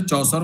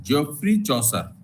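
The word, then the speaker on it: Chaucer: लेकिन उसका सही प्रोनाउंसिएशन जो है अंग्रेजी का वो है जियोफ्री चौसर।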